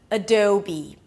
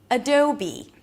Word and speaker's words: Adobe: And then you ended up with be, as in this is who I want to be. A B sound and a high E. Adobe. Adobe.